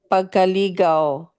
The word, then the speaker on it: pagkaligaw: pagkubahala, consciousness confusions, pagkalito, consciousness derangement, pagkaligaw, Mhm. pagkaligaw, Pagkaligaw. Oo, pagkaligaw. pagkaligaw. Oh, the way I said pagkaligaw, because diba there's another word, ligaw means you're courting somebody.